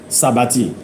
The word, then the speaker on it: s'abattit: Now, s'abattit is spelled S apostrophe A-B-A-T-T-I-T. Sabati.